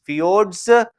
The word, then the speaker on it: fjords: इसे जे लिखा जाता है लेकिन आई प्रोनाउंसिएट किया जाता है. These are known as fjords.